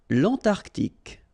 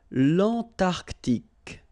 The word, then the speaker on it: l'Antarctique: Remember, Q-U-E here, it's K. Okay, so tic. L'Antarctique, l'Antarctique.